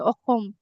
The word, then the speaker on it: অসম: But in Assamese, in our language, we say Okhom, Oh, Okhom.